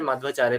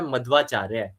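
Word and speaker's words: मध्वाचार्य: आते हैं वो हमारे माधवाचार्य प्रपाद जी आते हैं। अच्छा इनके शाब्दिक अर्थ समझे इनके नाम का तो इनको इनके नाम का इनका नाम का सही उच्चारण होता है मधवाचार्य मधवाचार्य मध यानी मधु व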